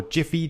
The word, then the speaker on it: Giphy: to animate so i'm gonna get mine from giphy or jiffy depending on your preferred pronunciation dot com and i'd recommend just choosing